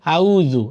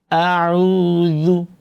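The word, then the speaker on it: أعوذ: যেমন বলেন এরপরে আইন আছে আইনটা কিন্তু গলার ভেতর থেকে উচ্চারণ করতে হবে অনেকে বলে আউজু আউজু হামজাকে নরম করে উচ্চারণ করে হামজা শক্ত করে উচ্চারণ করতে হবে এবং আইন নরম করে উচ্চারণ হবে আউজু বিলহি আউজুবিল্লাহি মিনাশ শাইতানির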